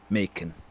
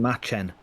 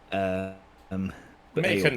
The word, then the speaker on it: Macon: Guardsman Macon. Macon. I keep on saying Machen. Macon, try to at least stand to attention.